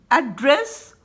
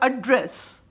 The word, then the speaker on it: address: मैं आपको एक एग्जाम्पल देना चाहूँगी, एड्रेस और एड्रेस, राइट, दोनों का स्पेलिंग एक ही है, both the spelling are same, ADRESS, but the way you pronounce the meaning will change.